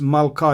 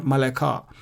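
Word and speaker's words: מלכה: And because of that, we don't pronounce the Shwa under Lamed. We don't pronounce the Shwa under the Dalit here. So that's why it's mid-bar. It's not mid-bar. And it's Malka. It's not Maleka. So mid-bar, Malka.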